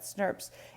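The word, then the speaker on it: snRNPs: That's how we pronounce that, SNRPs.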